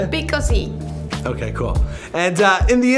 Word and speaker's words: Vico C: Vico C.